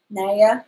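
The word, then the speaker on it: Nea: Naya. I think N-E-A is pronounced Naya.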